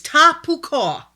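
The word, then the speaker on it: תהפוכה: The Hebrew word for froward is tapukah. Tapukah. That's how it's pronounced.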